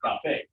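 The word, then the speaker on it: café: It should be cafe because that's a vowel. So the second to last syllable would get it. But because we're pronouncing it differently on purpose, cafe, you put an accent.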